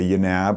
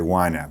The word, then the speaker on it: YNAB: how you say it you don't say you naab or YNAB you just say why nap that's what we've all